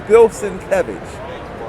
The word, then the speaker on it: Bill Sienkiewicz: Let me say it right, because he hates when you say his name wrong. Yeah. This is Bill Sienkiewicz.